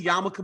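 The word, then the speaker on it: yarmulke: to put on the yamaka yamaka yamaka yamaka you you say yamaka but spell it like yamok yeah the L is silent Danny Rubenstein was very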